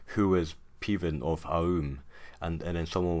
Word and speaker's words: Peven: And so we find out that Morgan has, in his past, retrieved a crown from Peven or Peven of Aum, that's how I pronounce it, in a daring riddle game, which is a matter of life and death.